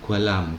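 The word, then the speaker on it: 관람: lam itu menonton ya Guan ramu tulisannya membacanya gua alam karena n ketemu her itu akan dibaca l kalau bakwan itu museum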